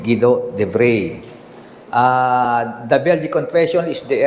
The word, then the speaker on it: Guido de Brès: Ang spelling niya, Guido de Brès. Pero kung siya bigkasin, siya Guido de Bray.